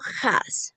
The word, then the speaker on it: has: Y en pronunciación, has. ¿Ya? Has. Es H como una J, has.